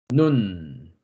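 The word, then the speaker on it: נון: 그 다음 글자는 물고기 씨라는 의미를 가지고 있는 눈이라고 있습니다. 눈, 눈. 발음은 니은 발음입니다. 다음 글자는 지주나 가시나무의 의미를 가지고 있는 사맥, 사맥, 사맥라는 글자이고 시옷 발음을 합니다.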